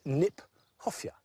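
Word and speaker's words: Kniphofia: roots in there i like the fact that nyphofia which is an awkward word not an easy word to say in fact is mispronounced we should pronounce it nip hoffia because it was named by johann hieronymus nip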